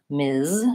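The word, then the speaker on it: Ms.: voice to Z sound MS versus miss has the same first two sounds but the voiceless s sound and my clue there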